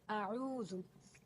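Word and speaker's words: أعوذ: Here, this is the lesson number 1, and the first word of this isti'aza is a'udhu. In this word, you have to make sure you pronounce the letter Ain very correctly.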